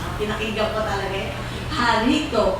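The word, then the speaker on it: χαριτόω: Sa Greek po means harito. Pinakinggan ko talaga eh. Harito. Pero ang spelling niya parang charito. Pero ang pronunciation is harito, means favored and gracious.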